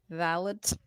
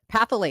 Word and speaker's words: phthalates: I'm guessing something is silent. Something doesn't have a sound. Something doesn't have a sound. Wait, read out loud. Phthalate. Phthalate? Pathalates. Hold on. Fat. Phthalates.